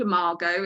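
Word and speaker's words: Imago: my marriage um and it's called it's called amargo it's spelled i-m-a-g-o and which is latin for image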